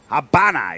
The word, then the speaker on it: Havana: And then we're going to be moving on towards the next map, which should be Demolition on Havana. Habana, even, as you should properly pronounce it.